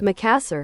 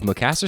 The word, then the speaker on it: Makassar: That's how it told me to pronounce it. Makassar.